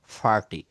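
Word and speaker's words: party: তাহলে এইগুলো আমরা একটু উচ্চারণ করব, যেমন আমরা পার্টি বলি, তাই না? এটা হবে ফাঠি, ফাঠি। দেখেন এই পি কে প বলবো আর টি কে ঠ বলবো, তাহলে এখানে সঠিক উচ্চারণটা কি হবে? ফার্টি, ফার্টি।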